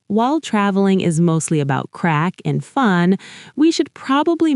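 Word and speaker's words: craic: It's spelled C-R-A-I-C, but it's pronounced like crack.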